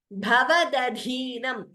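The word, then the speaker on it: भवदधीनम्: Bhavadadhinam. Bha and dhi mahaprana.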